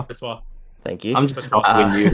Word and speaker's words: Courtois: Cortez. How do you fucking say his name? Courtois.